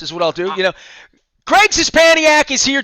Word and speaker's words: Szczepaniak: Greg Szczepaniak is here. Did I say it right? You nailed it.